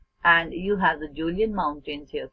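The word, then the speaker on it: Kjølen: And you have the Julian Mountains here. K is silent in this. You have the Julian Mountains, and these mountains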